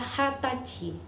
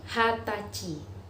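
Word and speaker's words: 二十歳: dibaca nih just say tetapi orang Jepang lebih sering memakai istilah hatachi Hai Jadi selain umur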